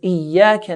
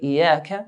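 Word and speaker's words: إياك: But if we don't put the shadda, if we say Iyaka, then the meaning will be Iya in Arabic is the sun's light. So Iyaka, your sun's light do we worship.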